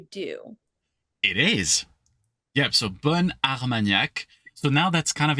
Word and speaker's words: bon Armagnac: So bon, it's very like round. But now suddenly it's like, remember, like bun. Like I have a double N suddenly.